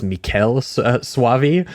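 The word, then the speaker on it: Michele Soavi: him cuz I think I was always calling him Michael or Michelle. It is Mikuel Suavei.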